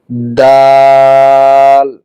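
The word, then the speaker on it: دال: এই দাল উচ্চারণ হবে ঠিক পায়ের মতো করে, অর্থাৎ জিহ্বার অগ্রভাগ, জিহ্বার আগা সামনের উপরের দুই দাঁতের গোড়ার সঙ্গে লাগাতে হবে। যেমন দাল দাল দাল।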